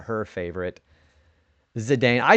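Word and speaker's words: Zidane: Do you prefer Do you pronounce it Zedane or Zidon? I say Zedane. I know a lot of people don't say it like that.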